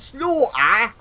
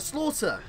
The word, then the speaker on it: Slaughter: whole 22 minutes man she's like Sergeant slaugh like that's not how that's not even I don't say it like that Slaughter that's that's how you say it that's how you say it right so anyway it's it's